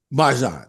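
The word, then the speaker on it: Marjon Beauchamp: You got his Is it name wrong. Marjon? Marjan, yes, yeah, Marjan Beauchamp.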